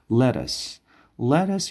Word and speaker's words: lettuce: همین دو تای تی که در وسط هست به شکل د تلفظ میشه، یعنی انگلیسی محاوربی امریکایی د تلفظ میکنیم. lettuce یعنی کاهو معنی میشه.